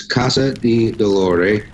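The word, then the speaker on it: Casa di Dolore: the information sure well the name is a little different it's in Italian it's Casa the Delory CA sa di DOL o re and it means House of Pain in Italian the address is 784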